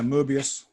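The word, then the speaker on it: Möbius: like to use the the original so yeah Mobius and and you say you will see oh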